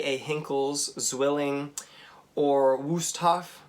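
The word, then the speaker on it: Wüsthof: a hinkles zwilling or wusthof vustoff i suppose would be the correct german pronunciation or victorinox themselves even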